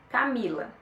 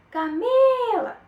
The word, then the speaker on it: Camila: aquela que você grita por exemplo Camila é meu nome se você for me chamar você não vai falar assim Camila Qual que você gritou o mi Então isso que é